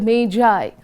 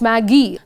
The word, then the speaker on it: Magi: the gift of the mai remember children it's pronounced as Mai not Maggie this story was written